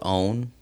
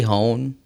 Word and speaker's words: hone: it my Latino that's always pronounced it own like is it really hone h o NE e yeah it's yeah hone hone what I don't know how